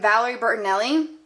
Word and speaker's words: Valerie Bertinelli: Marshalls for like ten dollars and it's from Valerie Bertinelli and that's how you pronounce the last name anyways so I went